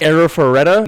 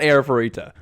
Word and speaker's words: Arifureta: pronouncing the whole anime name wrong and it's pronounced era foretta not erita okay let's get back to the video aside